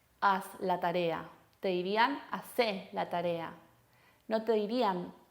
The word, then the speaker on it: hacé: Fíjense esa acentuación en la última sílaba.